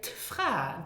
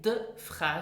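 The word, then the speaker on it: d'Fra: the D apostrophe t, so it sounds more like a T. So pronounce the D apostrophe t. For example, to say the woman, you say tfra. Don't say the fra, say tfra.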